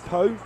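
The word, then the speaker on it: Pau: might possibly be at po you pronounce it po PA it's in the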